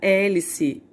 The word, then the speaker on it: hélice: a letra h né quando eu falo a palavra hora hélice e helicóptero hipopótamo eu não saio não produz o som do h eu não vou falar